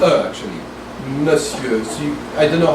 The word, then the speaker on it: monsieur: Monsieur is a combined word from Old French, but it's pronounced monsieur.